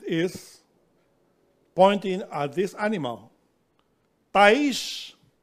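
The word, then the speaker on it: תיש: Ta'ish is how you say it in Hebrew.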